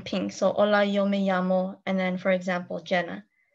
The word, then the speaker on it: llamo: Hola, yo me llamo. Double L is pronounced as a Y, so llamo.